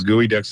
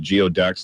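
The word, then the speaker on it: geoduck: in the the country people think the gooey Ducks that's so cute and they call it geod Ducks they can't pronounce it to explain to some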